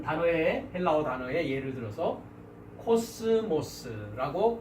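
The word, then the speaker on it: κόσμος: 그래서 이제 한 단어의 헬라어 단어의 예를 들어서 코스모스라고 발음을 하고 이 코스모스라는 단어는 우리가 세상이라고 성경에 한글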